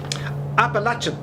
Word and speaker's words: Appalachian: dude happy wednesday to you this is the apollo chain mounts i don't know really great great name for plays just can't pronounce it but it's fine it's really it's fine um but that's where we're headed appalachian we're heading over to the appalachian mountains see